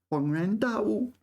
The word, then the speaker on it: 恍然大悟: I've always thought 恍 was first tone, but it seems it's not first tone. 恍然大悟. Yeah, third tone, second tone. This combination is especially hard. 恍然大悟.